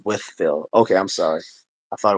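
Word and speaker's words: Wytheville: He said SRT says it's pronounced Withville. Okay, I'm sorry. I thought it was Wifeville, but it's Withville.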